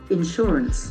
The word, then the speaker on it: insurance: word no confusions okay insurance insurance okay that's enforce the second syllable insurance it's an agreement